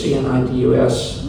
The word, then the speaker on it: Cnidus: See that word that there's C-N-I-D-U-S? If you look at that, they pronounce it different ways, but Cnidus is the way apparently the Greeks do it.